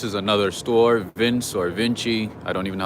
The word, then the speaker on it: Vince: This is another store, Vince or Vinci. I don't even know how to pronounce it, but. Quick question for you. How do you pronounce it? Vince? Vinci? Vince.